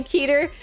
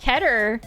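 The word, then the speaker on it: Keter: big overarching cannon stuff I still say keer yeah I mean it feels right to say it but it's it's ker I I checked I checked to see how you pronounced it and apparently it's that all right so item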